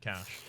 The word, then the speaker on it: cache: It's not pronounced cash everywhere. It's also apparently pronounced cache to a lot of people as well, but I'm gonna go with Cache of Cash.